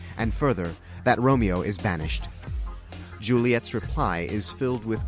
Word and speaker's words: banished: The word banished in the play Romeo and Juliet is pronounced banished.